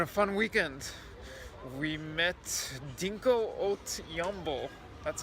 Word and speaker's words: Dinko Valev: We met Dinko Valev. That's how you say it? Yes. I mean, that's how he's known in Bulgaria. Dinko Valev.